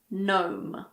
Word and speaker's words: gnome: Well, we don't pronounce the G if it's followed by an N at the beginning of a word. But there aren't that many words like this. Some examples are gnat, gnaw, gnome.